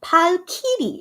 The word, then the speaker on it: Valkyrie: Palkiri is the Korean pronunciation, but I feel like English is Valkyrie, right?